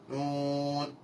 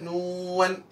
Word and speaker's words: نون: നൂൻ നൂൻ. ഇനി ചില ആളുകൾ നൂവൻ എന്ന് പറയും, വൻ പെട്ടെന്ന് ഇങ്ങോട്ട് ചുണ്ടു വലിച്ചു കഴിഞ്ഞാൽ നൂവൻ. അതൊക്കെ ഖുർആനോത്തിലും വരും തഅ്മലൂവൻ. അപ്പൊ അങ്ങനെ വരാൻ പാടില്ല. എങ്ങനെ പറയേണ്ടത്? നൂൻ നൂൻ നൂൻ.